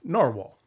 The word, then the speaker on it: Nahvalur: It is Nahvalur, which is Icelandic for narwhal. And while the company is changing the spelling of their name, they've chosen to keep the pronunciation of narwhal.